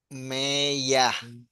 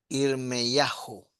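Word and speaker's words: ירמיהו: Y la otra forma, la más conocida, Irmeyah. Jeremías. Pero el verdadero es Irmeyahu.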